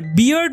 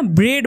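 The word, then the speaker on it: beard: বন্ধুরা, এখানে স্যাগি মানে হচ্ছে এলোমেলো বা জট পাকানো, আর বিয়ার্ড মানে হচ্ছে দাড়ি বা গোঁফ। এটার উচ্চারণ কিন্তু বিয়ার্ড হবে, হ্যাঁ, ব্রেড বা এরকম কিন্তু উচ্চারণ হবে না।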